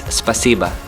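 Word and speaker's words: спасибо: If I pronounce this correctly, it's spasiba.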